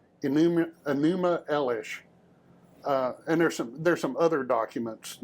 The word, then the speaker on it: Enuma Elish: Yeah, and I always mispronounce it. Where is it? I wrote it down this time so I could actually. Enuma Elish. Enuma Elish.